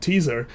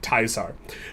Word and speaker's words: Caesar: this game really is, the true title is Project Teaser. And if you know how to pronounce it, it's actually Project Taisar.